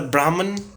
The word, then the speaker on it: Brahma: to be spoken about it is not Brahman it's Brahma so can you read some